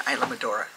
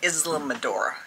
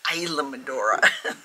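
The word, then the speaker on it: Islamorada: madora they're going to Isam madora I was saying it wrong I was calling it Islam madora it's not Islam madora it's Isam madora so we are going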